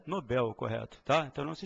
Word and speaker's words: Nobel: em L recebem acento Então se ela não tem acento a pronúncia certa é Nobel correto Tá então não se esqueça prêmio Nobel e não Prêmio nóbel tá bem aqui a